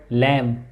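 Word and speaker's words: lamb: moon म moon ending sound in the word लम लम म sound इ silent eight end ऑफ न it come after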